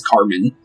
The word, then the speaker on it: Carmine: Translate to figure out the exact way you're supposed to say her name is Carmen. Even though Carmen normally would be an E-N, like Carmine, like how her name is spelled, is actually Carmen still.